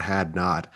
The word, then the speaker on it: Hadnot: I'm so glad it's pronounced that way too. Like I was like, if it's not Hadnot, it's going to be embarrassing.